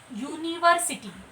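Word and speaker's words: university: अभी यहाँ पर देखते हैं यूनिवर्सिटी। यहाँ पर भले ही यू लिखा हुआ है, वावल्स का यू लिखा हुआ है, लेकिन जब हम इसे प्रोनाउंस कर रहे हैं तो क्या निकल रहा है मुंह से?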